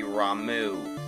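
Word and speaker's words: Ramuh: a thunderbolt and yes I pronounce it Rama even though the proper pronunciation is supposed to be Ramu but Rama is how I said it for years and I'm not going to change something that let's be honest doesn't really matter in the long run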